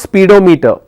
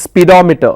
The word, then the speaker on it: speedometer: It's not speedometer. Okay. We learned syllable stress. If you have meter, the anti-penultimate syllable will take the stress. It's speedometer, not speedometer.